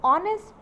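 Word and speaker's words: honest: Similarly third में है हमारे लिए ऑनेस्ट, ऑनर, आवर और आयर। ठीक, तो इसमें भी हमारा H साइलेंट है।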